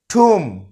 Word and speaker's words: tomb: এই লাস্টের বিটা উচ্চারণ হবে না। এই শুদ্ধ উচ্চারণ হবে ঠুম।